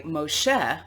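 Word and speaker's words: משה: children of israel are led by moshe the original biblical pronunciation of moses into the wilderness the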